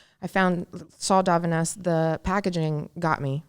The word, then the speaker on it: Davines: It's kind of spelled like Divines.